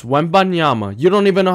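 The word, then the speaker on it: Wembanyama: in the NBA and his name is not wet bananas it's wanyama you don't even know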